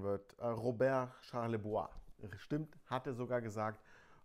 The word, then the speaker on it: Charlebois: Dieser Typ hier, frag mich nicht, wie der mit Nachnamen komplett ausgesprochen wird. Robert Charlebois. Stimmt, hat er sogar gesagt. Robert Charlebois mit ja, einem typisch 70er-Jahre-Album.